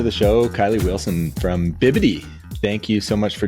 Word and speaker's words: bibidi: So, I've been saying Bibidi. Oh, yeah. Okay. Yeah. No, that's cute. It's bibbidi. Like bibbidity bobbidity boo.